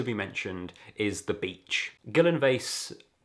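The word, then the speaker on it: Gyllyngvase: mentioned is the beach guillen vase i believe that's how it's pronounced everyone shortens it to gilly gilly beach is a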